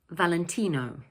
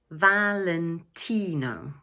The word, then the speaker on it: Valentino: In English we pronounce it 'Valentino'. So the word is made up of four syllables and the third one is stressed. 'Valentino', 'Valentino'.